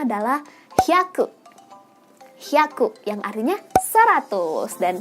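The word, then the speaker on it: 百: Cara bacanya adalah hyaku. Haku yang artinya 100. Dan 100 dalam bahasa Jepang juga sama dengan cara bacanya yaitu hyaku ya.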